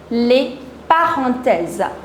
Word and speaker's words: les parenthèses: The next one are the parentheses or the normal brackets, les parenthèses.